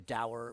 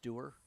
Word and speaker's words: dower: It's like Dower Doer. The Dower, my father always said, was pronounced Doer.